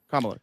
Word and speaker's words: Kamala: Is that how you pronounce it? Is it Kamala or Kamala? Kamala.